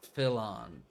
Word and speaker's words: Philon: He's Philon. You know, kind of like felon, Ah.